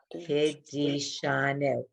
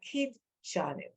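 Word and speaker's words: קידשנו: Now, Kidishanu. Someone could say, now that's a really fair question. No one asked it, but I'm making believe you asked it. How come it's not Kidshanu? Because it isn't.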